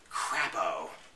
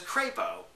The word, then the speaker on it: Crapo: uh Senator um Senator crapo I dead serious the Senator's name is crepo but it's spelled it's spelled it's spell it's spelled CP wow South Park was